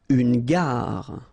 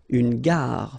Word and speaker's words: gare: Une gare. Okay, remember when you get these G and A together, the sound is g, ga, ga. Une gare, final not pronounced.